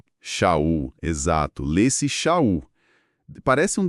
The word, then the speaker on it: Sha'ul: de Paulo, mas mas a pronúncia que respeita a raiz hebraica, como a gente vê nas notas, é Xul. Sul.